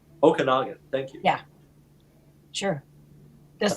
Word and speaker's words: Okanagan: can learn from those the pronunciation is okanagan okanagan thank you yeah sure